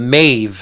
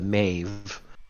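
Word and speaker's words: Meadhbh: really funny is that there's another V sound in a in um Gaelic it's BD or bdh the Maeve as she's called most people accidentally call the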